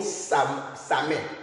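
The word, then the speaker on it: Samhain: Mais je peux noter le nom Samet. Samet, ça s'écrit comment?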